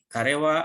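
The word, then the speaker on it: 彼: Dan yang ketiga, karewa atarashi kutsu ga kaitai yo desu. Karewa ini huruf kanji dibacanya kare, artinya dia untuk laki-laki.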